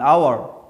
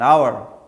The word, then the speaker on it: hour: the answer is an hour why because H is silent so we start for now from the letter all and all is well so we can say an hour the correct answer is